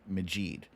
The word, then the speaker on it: Majid: because people thought that, magic was easier than saying Majid. Because the syllables, Majid, magic, it's still 2 syllables, still 5 letters, but it's easier. It's Majid is so difficult to say.